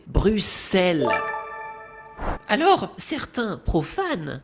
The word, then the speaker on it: Bruxelles: Visiter Bruxelles? Non, vous devriez le prononcer Bruxelles.